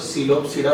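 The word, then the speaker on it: Psilopsida: सबसे पहला है सिलोप्सिडा, इसमें पी साइलेंट है तो सिलोप्सिडा बोलते हैं इसको, पी सिलोप्टम से आया है ये।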